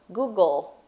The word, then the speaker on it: Google: Google it. Google. Olha o Lzinho no final. Lzinho, né? Olha o Lzinho no final. Google.